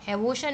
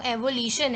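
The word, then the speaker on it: avolition: एवोल्यूशन जो है ये कहलाता है, एवोशन नहीं है वो, एवोल्यूशन है।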